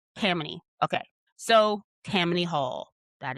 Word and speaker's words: Tammany: Let me Google how to pronounce this again cuz my brain wants to say Tammany, but it's not.